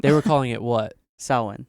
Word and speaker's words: Samhain: Samhain. Samhain. Yeah. Which is not spelled the way I pronounced it.